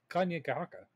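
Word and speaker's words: Kanien'kehá:ka: like it it looks it looks complicated if you're reading it on a piece of paper but once you actually like sound it out like it's not it's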